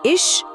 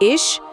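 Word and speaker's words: ich: और अगर आई ई या किसी भी उमलाउट के बाद सीएच आता है तो ध्वनि बहुत हल्की श या हर जैसी होती है। जैसे इश मतलब इश या मिल्श मतलब मिल्चश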